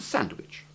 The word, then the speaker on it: sandwich: The second is that there are two acceptable pronunciations of that useful comestible which has something tasty between two slices of bread, the sandwich. I have just pronounced it with the soft CH sound, but it can also rhyme with fridge.